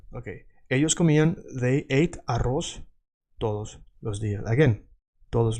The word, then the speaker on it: arroz: You notice that I'm saying like an S, arroz, because in Latin America we say like an S. In Spain they say arroz, like TH.